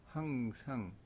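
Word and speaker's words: 黃裳: 황장이라고 읽기도 하고 황상이라고 읽기도 합니다. 황상 원기이다.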